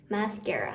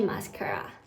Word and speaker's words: mascara: Then I put on mascara อ่านว่าแก่นะคะกอไก่ไม่ใช่ขอควาย mascara ไม่ใช่ mascara I put mascara on